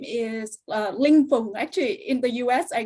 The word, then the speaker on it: Linh Phung: my name is uh lingful actually in the us i go by since it's easier to say and to hear but actually my name is pronounced as fling in vietnamese and so i'm from